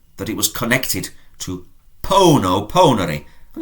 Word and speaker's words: pono: And I put or I place is pono. Has a long O at the start.